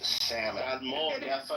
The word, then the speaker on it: salmon: It's salmon doesn't have an L.